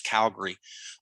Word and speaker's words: Calgary: for a sales team and Calgary that's how they say it I got corrected I used to say Calgary it's Calgary uh up in up in